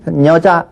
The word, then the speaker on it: 여자: 때는 녀를 제대로 발음하지만 녀가 앞으로 오면 어때요 실지 발음하기 여자 이러면 뭐 이상해요 우리는 누가 가르쳐 주지 않아도 초등학교 학생들도 다 여자 이렇게 발음을 하죠 자 건너 뛰죠 유리리